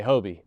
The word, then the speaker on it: Hoby: So, I spell it. I say Hobie.